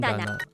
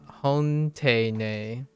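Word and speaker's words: 本棚: I think this is it's Tana instead of standing alone. Tana. And then 本棚 Hondana. 本棚 Imagine if Hondana. someone just pronounced hontene.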